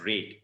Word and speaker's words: red: RED cannot be pronounced as red. It is actually red. The color is red. The color is not red. Okay, red as in the past tense of read. Red can red. Exactly the same pronunciation.